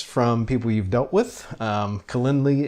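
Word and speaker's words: Calendly: people you've dealt with Kalindi as a as a popular one I think that's how you pronounce that because CA l in d ly so some V Tigers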